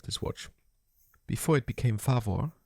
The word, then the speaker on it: Favor: Before it became favore as it's pronounced in German, Shetszine was founded in 1909 in violet the river rin as Germany's first producer of raw pocket watch movements.